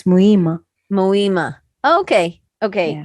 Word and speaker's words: Muhima: forget the h yeah you don't pronounce the h no no muhima it's muyma mohima okay okay h